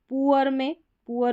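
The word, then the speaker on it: poor: पुअर में ये वाला उच्चारण है उ।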